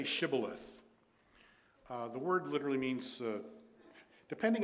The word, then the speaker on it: Shibboleth: If he said no, verse 6, then they would say to him, say now Shibboleth. But he said Sibboleth, for he could not pronounce it correctly.